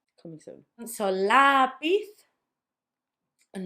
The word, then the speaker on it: lápiz: Let me say the 3 words again so you can notice that stress. Raton, not raton. Lápiz, not lápiz. And teléfono, because I know you said telephone, so it would be teléfono if you went with the English.